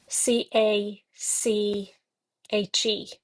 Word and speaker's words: cache: and it is the suit of cat c a c h e and I suppose here in America it would be pronounced cache.